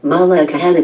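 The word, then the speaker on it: Malaekahana: This one is hard to pronounce. It's said, Melekahana Beach.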